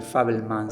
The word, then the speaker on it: Fabelman: de Facebook diferente y creo que pronunciado muy parecido fable es fábula y este es favel se escribe favelman pero casi que suena como como la familia fábula y una fábula es